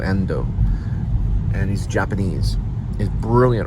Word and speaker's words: Ando: actually talking about uh and or too Ando and I believe that's how you pronounce it too endo and he's Japanese he's